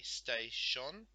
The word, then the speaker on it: station: If I say station, it's 2 syllables, so it's S-T-A is one, sh-on is the next.